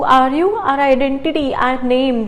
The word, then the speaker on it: Name: It's not name in German. It's known as Name. How do we pronounce it as? Name. As we learned, A is known as A in German. So it becomes Name.